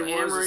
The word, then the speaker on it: Amory Wars: Amory Wars is how I've heard it.